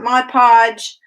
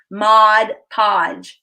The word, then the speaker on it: Mod Podge: if you're in here i do pronounce it properly just saying just saying because a lot of people call it what do they say mod podge there's no modge in the title and i do